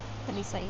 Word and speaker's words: Talisay: Talisay, yeah.